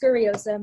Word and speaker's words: Scuriosa: more i so s-c-u-r-i-i-o-s-a yeah it's it's just pronounced scurryism that that's nothing too special no no simple